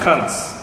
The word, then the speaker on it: kasa: the Indian dictionaries say the Indians call it Kans. Okay. Originally pronounced Kansa, but the Indian way of talking, they often drop off the last vowel.